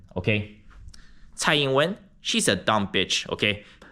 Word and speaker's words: Tsai Ing-wen: So this is how you pronounce her name. Tsai Ing-wen, okay? Tsai Ing-wen, she's a dumb bitch, okay?